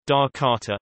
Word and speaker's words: Jakarta: Jakarta, Indonesian pronunciation, Dakarta, officially the special capital region of Jakarta, Indonesian, Daerah Khusus Ibu Kota Jakarta, is the capital and largest city of Indonesia.